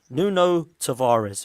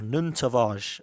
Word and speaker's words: Nuno Tavares: of them certainly are nuno tavares or nun tavage as apparently you pronounce it um what we're